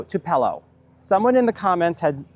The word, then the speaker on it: tupelo: Another thing that we learned about with with what needs some more water than we expected the beautiful tupelo tree or tupelo no tupello.